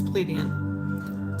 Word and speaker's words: plebeian: Mom said I was saying it wrong. I was saying plebs. She says it's plebeian.